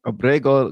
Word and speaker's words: Abrego: Abrego Garcia. You got to roll your Rs.